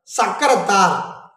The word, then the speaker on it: சக்கரத்தார்: ஆனால் பாண்டிச்சேரியில் தமிழ்காரங்க என்ன பண்ணுவாங்கன்னா சக்கரத்தார் அப்படின்னு உச்சரிப்பாங்க.